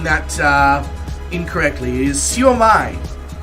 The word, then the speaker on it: siomai: However, it is pronounced siomai, according to Wikipedia. So I was pronouncing that incorrectly. It is siomai.